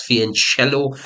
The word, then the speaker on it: fianchetto: It's written as fianchetto, but it's pronounced as fianchello.